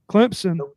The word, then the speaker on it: Clemson: South Carolina at Clemson Clemson NOP yep there you go no is that right yeah you had put a p in there a p you saidon that's that's not how you say it sir oh I'm